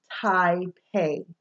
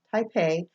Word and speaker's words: Taipei: We're moving back to AI, okay, is pronounced like a long I. EI is pronounced like the long A, okay? I like to keep these two pairings together in the word Taipei. So the capital of Taiwan, Taipei, has both these combinations in it, and that will help